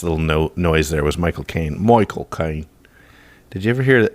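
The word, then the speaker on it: Michael Caine: have a british accent his accent is so thick that if you say my cocaine michael k that's that's his name with his accent use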